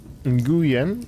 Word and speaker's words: Nguyen: Last name is pronounced like Win. Ah.